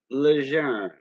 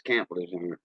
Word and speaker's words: Lejeune: Lejeune. That means young in French. Like Camp Lejeune. A lot of people call it Camp Lejeune for the Marines. No, it's Camp Lejeune.